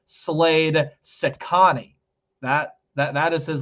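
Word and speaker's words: Cecconi: on in different shows here is how you pronounce Slade Sani that that that is his last name Sani all right s so get used to saying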